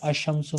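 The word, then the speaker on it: الشمس: अशम्सु में लाम साइलेंट है, अशम्सु। और हम्म अल कमरु में लाम साइलेंट नहीं है।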